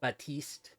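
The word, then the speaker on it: Baptiste: So in this it's saying Batist. So is sane with the silent T the proper way to say it.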